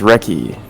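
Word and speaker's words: Recchi: on the bottom left mark wreckie richie i say ron francis oh dog it just pronounced recce and he played in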